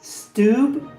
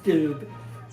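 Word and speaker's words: Steube: Reuters can predict that incumbent Republican Greg Stoibe, I think it's pronounced Stube, will win Florida's 17th congressional district over challenger Manny Lopez.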